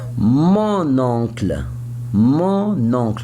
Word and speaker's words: mon oncle: Why I pronounce now the letter N. You say mon oncle before you say mon père, mon frère, mon grand-père. I don't pronounce the letter N. I pronounce it, but it's not clear.